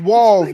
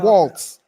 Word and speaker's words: Walz: said his name wrong his name is wals not Waltz two leaders with All-American